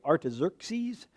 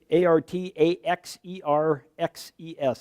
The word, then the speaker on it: Artaxerxes: Nehemiah was a Jew who was a cupbearer to King Artaxerxes. If you read it and didn't know how to pronounce it, that's how you say it, Artaxerxes. Artaxerxes.